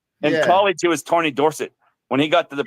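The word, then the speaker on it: Dorsett: got to the pros he says pronounce it Dorset yes yeah his dad was dors everybody else in his family was Dorset but he wanted to be Dorset she's trying to Blacky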